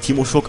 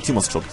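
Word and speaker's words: Tymoschtschuk: Den spricht man nicht Timoschuk, auch nicht Timoschuk, sondern Timoschuk. Spricht sich komisch, aber ist so.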